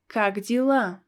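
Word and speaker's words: как дела: you can learn is kagdyla how are you kak dilam this letter ye is pronounced as e because it's not stressed kagdyla kagdyla next and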